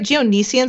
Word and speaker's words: Geonosians: I love the Am I saying it right? Geonosians. I say Geonosians.